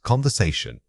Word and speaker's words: conversation: The word is conversation. Say it again. Conversation. This word has a very natural flowing rhythm. The stress guides your intonation up and down across the syllables.